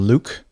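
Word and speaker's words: Luc: Let's continue then with this feedback from Luke. Would imagine L-U-C is pronounced Luke.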